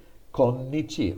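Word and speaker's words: 今日: in uh hiragana but kyo uses the exact same kanji kyo means today konnichi also means today kyo is the softer native japanese way to say it and konnichi is the more scholarly the more bookish chinese way to say it so chinese words are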